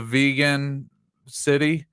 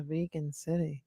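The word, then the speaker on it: Vigan: he was assassinated uh you had what the vegan City had their Obelisk uh was destroyed by lightning on seven seven the vegan City yeah vegan City it's uh you've seen it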